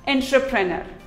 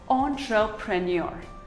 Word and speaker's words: entrepreneur: engineer here's another word most of us pronounce it as entrepreneur while it is actually pronounced as entrepreneur ontra premier entrepreneur debris it is not